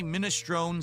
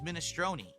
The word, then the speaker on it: minestrone: I say minestrone soup, and they're like, no, it's minestrone.